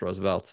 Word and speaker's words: RSVLTS: It's RSVLTS. It's pronounced Roosevelt's.